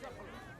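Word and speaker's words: Bucephalus: It's pronounced Bucephorus.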